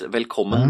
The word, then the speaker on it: välkommen: You actually pronounce the V? Yeah. It's just like a V. So it's velkommen tillbaka.